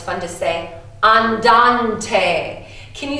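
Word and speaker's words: andante: I love this one it's fun to stay on Dante can you say that for me one two three on Dante you sound so much smarter just because you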